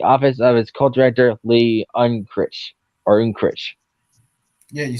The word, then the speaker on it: Unkrich: Stanton recorded all of Crush's dialogue while laying on a couch in the office of his co-director Lee Unkrich.